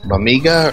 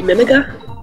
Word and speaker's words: Mimiga: Is it Amiga or? I've always asked that question. I end up saying it both ways. What would the other way be? Mimiga? Mimiga, yeah. The Amiga. Emphasis on the first or second syllables.